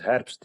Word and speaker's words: Herbst: Well, and they pronounce my surname as Herbst. It's like the German part of it, so let me just correct it. It's Herbst.